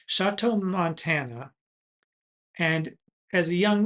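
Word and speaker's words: Choteau: He was born in Indiana, but he moved with his parents as a child to Chateau, Montana, and I think I'm pronouncing that correctly, Chateau, Montana.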